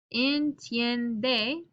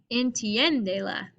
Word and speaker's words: entiende: This is a syllable that is emphasized. Entiende. Entien. Actually, that's 2. So let me not underline this. Entiende. So here I'm accenting the E to keep the original stress.